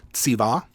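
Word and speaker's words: צִוָּה: This is a consonantal vav with a dagesh. So you would pronounce this as tsiva.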